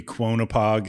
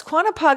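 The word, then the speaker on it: Quonnipaug: I have to say Lake quanap poog ah I don't think I'm saying it right it could be quona poog no it's quanap poog I can't believe I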